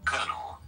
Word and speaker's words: colonel: Colonel. Colonel. Yes. Colonel. Colonel. But because it's spelled colonel, like, who's supposed to know?